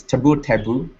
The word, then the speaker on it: taboo: There might be taboo, and some people might pronounce it taboo, but I just say taboo, and the first syllable is not stressed as much as the second.